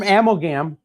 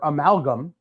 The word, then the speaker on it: Amalgam: So this is from Amogam or Amalgam, excuse me.